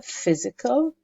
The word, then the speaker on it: physical: has psychological gains okay be careful with pronunciation here physical we don't say per its fur physical and also we don't read